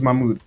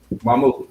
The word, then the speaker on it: Mamoudou: How do you pronounce it? It's fun. See that? My name's Mahmoud. Mahmoud.